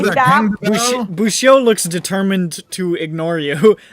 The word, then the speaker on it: Bushio: Bushio. Bushio. Dude, it's easy. It's not that hard. It's 2 syllables. Cheeto, but without the Ito.